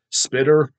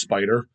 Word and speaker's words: Spiter: so it's spelled s-p-i-t-e-r it looks like spitter spider but it's a pronounced spider and i confirmed that